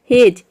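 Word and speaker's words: hedge: तो इन सभी वर्ड में आप देख रहे हैं कि डी जी एक साथ आ रहा है, या फिर डी के बाद जी आ रहा है तो यहाँ पे डी को हम साइलेंट रखते हैं, डी को प्रोनाउंस नहीं करते हैं, केवल जी को प्रोनाउंस करते हैं।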